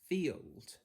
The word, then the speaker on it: field: So for these words, we're looking to pronounce it as an E sound. So I've got sh-e-old, shield. F-e-old, field.